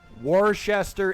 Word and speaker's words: Worcester: Worcester is Worcester. Oh, I want. Yeah, phonetically. it's Worcester. Phonetically. Worcester. Worcester It's is Worcester. Worcester. So you do not pronounce the C-H-E.